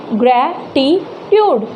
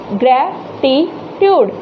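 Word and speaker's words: gratitude: उसके बाद देखिए ग्रैटिट्यूड, ग्रैटिट्यूड, ग्रैटिट्यूड, तो यहाँ पर ये जो हमारा ए है, इससे पहले कितने भी कॉन्सोनेंट क्यों ना आए, तो हमें कहाँ लगाना है स्ट्रेस, फर्स्ट पर।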